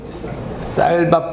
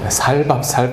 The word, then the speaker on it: 쌀밥: 우리 경상도 사람들 쌀밥 발음 잘 못하거든요. 살밥 그리고 은혜라는 말도 잘 못해요.